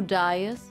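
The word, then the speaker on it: Dai: do you know who dies die not like the verb die it's spelled d-a-i i am unfamiliar with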